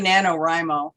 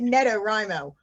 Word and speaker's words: NaNoWriMo: please please pronounce it i say nanowrimo nano nano yes nanowrimo i i keep calling it neto rhymo if you read the